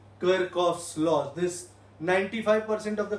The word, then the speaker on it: Kirchhoff: let me assure you, he was an Austrian, Gustav Kirchhoff, so his name is Kirchhoff. तो ख यहाँ से निकलता है, so you'll pronounce him as Kirchhoff.